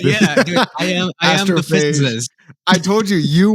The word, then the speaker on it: Astrophage: Actually, it's astrophagy. No, astrophage. Astrophage.